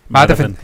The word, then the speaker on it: Madhavan: Madhavan.